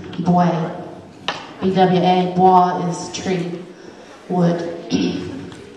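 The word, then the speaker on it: bwè: I said B-W-A, it's B-W-E, boy.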